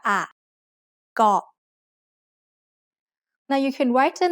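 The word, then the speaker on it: เกาะ: In Thailand, you'll hear over 90% of tourists pronouncing the word เ ก า ะ incorrectly. เ ก า ะ is usually written in English letters as K-O-H, so many foreigners end up saying ko instead of เ ก า ะ.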